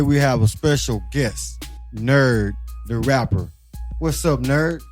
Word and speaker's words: Knurd: My name is Knurd, and it's spelled backwards. It's actually not spelled backwards, but it's drunk backwards.